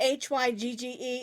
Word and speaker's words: hygge: this is called hygge charm and see that hy gge it's pronounced hygge I believe it's a Swedish word